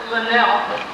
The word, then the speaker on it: Linnell: it ended with and it rhymes with hell and telling them and whatever Falls Wisconsin that some 600 homes in the U.S and they've announced that Lynelle doesn't have any ice